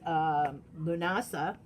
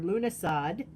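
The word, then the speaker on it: Lughnasadh: Also, August is Lunasa, or Lunasad, as some people pronounce it. Either way is correct, by the way.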